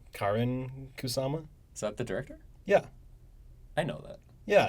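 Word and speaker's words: Karyn Kusama: I looked up interviews they always pronounce her name uh Karen kusama is that the director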